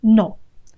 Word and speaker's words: no: One of the biggest giveaways when you're speaking Spanish, people will notice immediately that you're not a native speaker, is when you give the final O, that O sound. If you give it a O sound, that gives you away as a non-native speaker. Native speakers never do that. They always say O. At the end of a word, the sound is O.